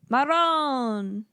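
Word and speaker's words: marone: how you say it Maron Maron you got to roll the R I can't do that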